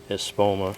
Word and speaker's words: Espoma: bag each here's uh super phosphate Again by espoma that's how you pronounce that fast acting phosphate and it says